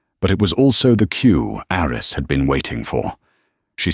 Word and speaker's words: Aris: "Aris Thorne," she said, mispronouncing the first name as Aries. "It's Aris," Aris corrected, softly, politely.